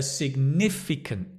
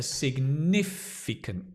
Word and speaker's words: significant: A big challenge, a significant challenge. The accent is on the ni. A significant challenge, a real challenge, a new challenge, an exciting challenge.